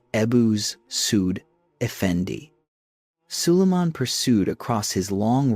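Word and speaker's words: Ebussuud Efendi: Working with the legal establishment headed by his chief legal scholar Ebisudendi, a name pronounced roughly as Ebuz Sudphendi.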